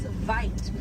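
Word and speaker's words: wyd: Original word for white rhino was vite. Vite means wide in apricots, but over time it was misheard and mispronounced and it turned into the white rhino.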